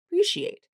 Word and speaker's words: appreciate: They see a letter a and they want to pronounce it as a appreciate. But nope, this follows those the same rules of the reductions. It's an unstressed syllable. And uh so it's the schwah.